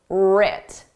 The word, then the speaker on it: writ: Our successes and failures were writ. Did you spell this starting with a R or with a W? The W is silent, just like in the word write.